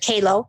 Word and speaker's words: Kalo: Instagram kao's Instagram it's Kao and I'll spell it for you it's k a l Like Larry O Kao kind of rhymes with Halo so it's Kao 7